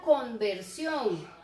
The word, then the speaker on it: conversión: Por ejemplo, tengo la palabra conversión o conversión. ¿Cuál será la forma correcta de pronunciarlo? Sí, es que ustedes tienen que hacer una conversión. O digo, ustedes tienen que hacer una conversión. No, ¿verdad? Sí, dice conversión con N.